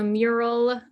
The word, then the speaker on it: Mural: so um there's also mural m-u-r-a-l which sounds entirely too close to miro you have to pronounce it awkwardly different but yes and then